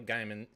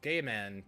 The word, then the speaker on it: Gaiman: why i was like i don't think it's gay man because it's g-a-i and so like if